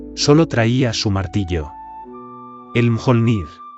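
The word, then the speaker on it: Mjölnir: El Mjolnir. El mayor Nir, así lo pronunciaban los suyos.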